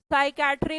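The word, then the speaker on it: psychiatry: Spelling जरूर देख लीजिएगा। सोचते हैं हम एस से बनेगी पर पी से बनती है। पी के बाद जब भी एस लिखा जाता है स्पेलिंग में साइलेंट हो जाता है।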